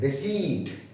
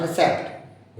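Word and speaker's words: receipt: रिसीट, नॉट रिसेप्ट, रिसीट, पी is silent.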